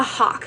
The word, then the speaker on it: Hawk: So how do you pronounce that, the Hop series? The Hawk series, like the bird, the hawk.